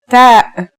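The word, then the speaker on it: ت: The pronunciation is like the English T, except you should release your breath with a strong burst of air. Try it. Ta.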